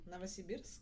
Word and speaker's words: Novosibirsk: How do you pronounce that again? Novosibirsk.